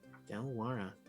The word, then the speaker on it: Dalwara: do you spell that d-a-l-w-a-r-a delaware how it sounds classic dj play on